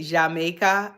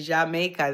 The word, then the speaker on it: Jamaica: That's how they say Jamaica. The Spanish they say Jamaica. They don't pronounce the J.